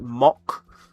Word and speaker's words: Mach: Apparently, someone said in chat, the Americans, you pronounce it like mock, which doesn't make sense to me. Why would you pronounce it mock? But it's Mac.